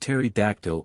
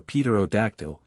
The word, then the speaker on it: pterodactyl: a native of Ireland its name being pronounced Terry dactyl or Peter octl as the man pronouncing it may chance to have heard it spoken or seen it printed de the breakfast of